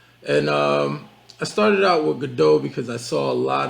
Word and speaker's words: Godot: And I started out with Godot because I saw a lot of, or Godot, however you want to pronounce it. But I'm going to pronounce it Godot.